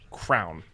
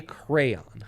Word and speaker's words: crayon: and i truly mean nothing about that word that would lead you to believe it is pronounced crown can i use some